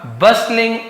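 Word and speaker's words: bustling: इन अ बस्टलिंग office, इन यानी में, यानी एक बस्टलिंग ऑफिस, यहाँ पे है ना, बस्टलिंग नहीं पढ़ेंगे, टी साइलेंट होता है।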